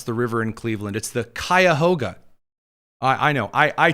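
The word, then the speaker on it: Cuyahoga: First of all, I have learned the great truth of how to pronounce the river in Cleveland. the Kyahoga.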